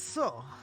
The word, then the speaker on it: そ: そ This is so. Pronounce it as so, like in soda, or solar, or so.